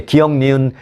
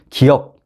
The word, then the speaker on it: 기역: 이렇게 말합니다 차이점 느끼셨나요네 기역 기억이라고 발음해야 되는데 기역이 아니라 어떤 분들은 기억 니은 이런 식으로 합니다 기억 근데 이게 이제